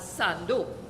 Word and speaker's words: Sando: theme first of all only we and I say we from this city pronounce San Fernando as Sando the second thing is